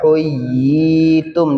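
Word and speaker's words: حُيِّيتُمْ: Y-nya double uyi tum ya. Nah, syaratnya mad tamkin apa? Tasydid dan huruf ya. Huyyitum dibacanya berarti berapa harakat?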